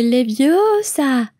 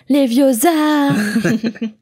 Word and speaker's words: Leviosa: désolant pour hermione et elle le reprend son sa prononciation passage immensément célèbre dans les films c'est les bio ça et pas leviosa alors un peu comme